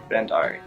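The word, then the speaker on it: Bhandari: yeah and my last name some people don't even try because the BH really throws people off of like the Hungary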